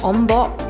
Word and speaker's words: Ombok: And then I found out that Ombok is actually how you pronounce it in Terengganu. Like in Malaysia, wave is called Ombak, but in Terengganu, I guess the dialect or the slang is called Ombok.